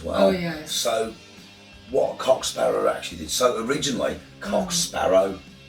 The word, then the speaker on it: Cock Sparrer: Or a right me old Cock Sparrer. Oh yes. Or right me old Cock Sparrow, but somehow he went to Sparrow. Yeah, now, it's the way they pronounce it.